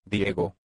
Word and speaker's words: Diego: My name is Diego.